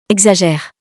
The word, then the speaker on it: exagère: exagère, We have seen that the X letter has a lot of different pronunciation possible, but this time, the first option is the correct, because X is followed by a vowel.